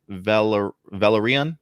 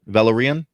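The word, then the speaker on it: Velaryon: The 9 Voyages series refers to the great voyages at sea made by Corliss how do you pronounce that? Valerian. Valerian.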